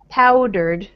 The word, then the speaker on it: powdered: In the second word, first syllable, pow, powdered. Powdered. Uh-huh. And more, little bit more stress on the first syllable, powdered.